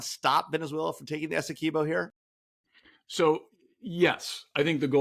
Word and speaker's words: Essequibo: I know you're not how to pronounce it. Essequibo, thank you.